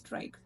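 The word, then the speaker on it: trich: that refers to hair trike we'll pronounce it as trike there a type of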